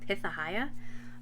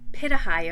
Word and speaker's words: pitahaya: guys ever heard of pitha hayah i'm gonna have to research that okay so i'm pronouncing it wrong or i wrote it wrong it's called pitahaya or pitahaya and it is a